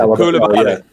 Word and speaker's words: Koulibaly: Craig, you try and pronounce it. Koulibaly.